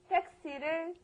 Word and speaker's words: 택시: 택시를 타고 왔어요. Okay, but your pronunciation's all wrong. It's not taxi. It's 택시. 택시.